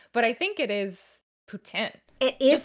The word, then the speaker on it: poutine: Correctly, it's poutin, but I know everybody says poutine.